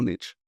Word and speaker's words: niche: are in the world, niche or niche. Okay, the answer is both, but there's an interesting story behind it. So, everybody, not everybody, most people say niche.